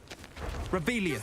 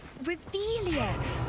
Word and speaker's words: Revelio: You're Rebellious. saying it wrong. Ugh, Revelia.